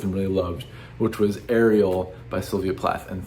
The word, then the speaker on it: Ariel: really loved, which was Ariel by Sylvia Pla. And thank you in the comments for correcting my pronunciation of Ariel and not Ariel. I don't know why I thought it was Ariel.